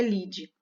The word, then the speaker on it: lide: abrasileirada nessa escrita mas a pronúncia é lide no jornalismo porque a